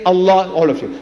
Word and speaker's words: Allah: you to try to pronounce as you ought to pronounce a l a h is Allah not Al say say Allah all of you say